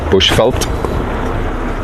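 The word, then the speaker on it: Bushveld: came up here so Bush fult chenan uh refers to the habitat that we're in and it's spelled bu u s h v e l d Bush felt and so yeah it's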